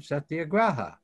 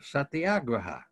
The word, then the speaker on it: satyagraha: supporters invented the term set the agraha or satyagraha whichever way you want to pronounce it um this came out